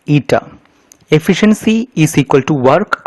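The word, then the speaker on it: η: Efficiency is denoted by a Greek term pronounced as eta.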